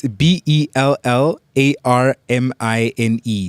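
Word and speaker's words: Bellarmine: How do you spell it? It's B E L L A R M I N E.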